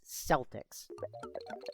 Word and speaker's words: Celtic: But but yeah, only when you're talking about the basketball team do you say it as Celtics. Yeah, because because the creators of the basketball team didn't know how to pronounce the word.